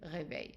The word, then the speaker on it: réveilles: So this e is silent, es silent, silent, silent, silent. So pronunciation will be je réveille, and tu réveilles.